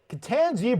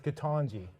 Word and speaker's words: Ketanji: our first topic is tangie brown jackson am i saying it right angie i'm being told by a medical doctor it's katanji yeah which they say